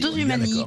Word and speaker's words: Dosumani: Dose Humani, comme ça se prononce, vraiment, il n'y a pas de H, rien.